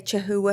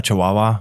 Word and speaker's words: Chihuahua: it correctly now cuz I want to say chahua haa oh Chihuahua yeah how did they get Chihuahua from Chihuahua yeah I don't